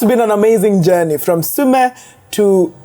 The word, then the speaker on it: Sumy: Yeah, that's been an amazing journey from Sumy to. I feel like I'm saying it wrong. Say it again. Sumy.